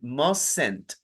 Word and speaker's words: mustn't: Acuérdese como le dije a Leti, mustn't. Eso es una E invisible que no se lee, pero se pronuncia.